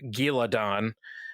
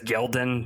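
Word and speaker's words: Ghealdan: town bethal and gildon not as michael kramer says calls it giladon he adds an extra syllable in there for some reason i always read it as gildan you know so yeah so that's to me that makes more sense than giladon there's i mean there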